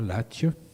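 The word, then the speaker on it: Latche: L'image c'est une anecdote qui se passe à Latje, parce qu'on prononce comme ça, Latje, dans les Landes, en septembre 81.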